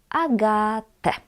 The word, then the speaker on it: Agatę: But you know already that we read en at the end as e. Agatę.